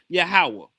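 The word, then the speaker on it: יהוה: Every time you see the Lord in the English Bible, it's in place of the tetragramm Y HW which is supposed to be pronounced Yahawah.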